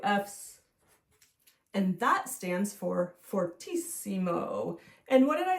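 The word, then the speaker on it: fortissimo: we put two fs and that stands for fortisimo and what did I say about eimo it's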